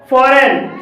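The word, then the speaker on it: foreign: फॉरेन, फॉरेन में जी के बाद एन है और यहाँ पर भी जी साइलेंट है।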